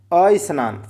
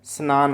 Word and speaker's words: स्नान: अस्नान का शुद्ध जबकि होता क्या है? स्नान होता है। क्या होता है? स्नान। अ का प्रोनाउंसिएट नहीं करना चाहिए। स्नान।